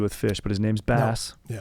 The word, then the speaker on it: Bass: And he's like, "It's pronounced bass."